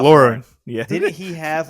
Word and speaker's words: Lauren: So You know, in our youth, there was I think didn't Ralph Lauren have like a you pronounced uh, it wrong. You did it wrong. I did it wrong. Yeah, Ralph Ralph Lauren. Lauren.